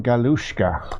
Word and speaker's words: Galuszka: with one of the ultimate gearheads himself, Jim Galuszkasr. Am I pronouncing that correct, Jim? No, I'm not. Would you help me out on that one? Jim Galuszka.